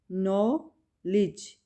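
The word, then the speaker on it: knowledge: नॉलेज, नो, के silent है, के की साउंड नहीं होगी, और लिज, डी की साउंड नहीं होगी यहाँ पे, ठीक है, डी साइलेंट होगा। इसमें के और डी साइलेंट हैं, ठीक है, नॉलेज।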